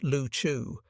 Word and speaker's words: Liu Chiu: The group of islands was called Liu Chiu, the Chinese word usually pronounced Lu Chu, meaning either pendant ball or bubbles floating on water.